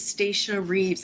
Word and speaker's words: Stacia Reeves: on my list is stacia reeves did i pronounce that badly no you did it perfectly my name is stacia reeves and i don't know